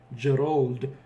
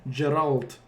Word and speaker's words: Geralt: pronunciation for that is geralt with t yeah yeah kind of like the uh witcher character oh yeah yeah yeah